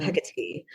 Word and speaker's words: Hecate: Hecate.